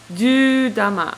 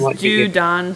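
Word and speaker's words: 銃弾: And apparently it's actually pronounced as Judan, so I'm apologize for that. It's Dan rather than Dama.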